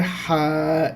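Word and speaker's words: ح: পরে হা, এই অক্ষরটার নাম হচ্ছে হা। উচ্চারণটা ভালো করে খেয়াল করেন, একদম গলার মধ্য থেকে হা, সুন্দর করে।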